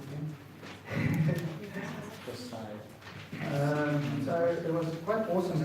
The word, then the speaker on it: Josiah: How do you pronounce it again? Josiah.